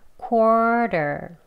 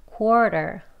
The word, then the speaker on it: quarter: 첫 번째 음절에 강세가 있습니다. core 하고 강하게 높게 길게 첫 번째 음절 합니다. 그럼 두번 해볼게요. quarter 이렇게 하셔서 quarter 하고 발음하시는데요.